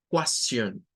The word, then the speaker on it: question: Y luego ya hemos dicho que cuando la palabra termina en T-I-O-N, siempre suena a Sean. T-I-O-N suena a Sean, con un schwa. Question, question.